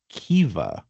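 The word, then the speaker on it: Caoimhe: I mean, if we go by all those rules, I don't know what the C would be, but we would end up with something like Kea.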